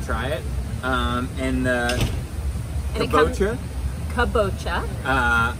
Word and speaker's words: kabocha: Kabocha. Not kombucha, but different kabocha.